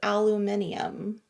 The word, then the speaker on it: aluminium: with anyway what what why is there an extra eye in there it's aluminum is it yeah maybe our pronunciation we're going to have to go look this up afterwards cuz that does seem aluminum because the way it's there is aluminium that's true but we don't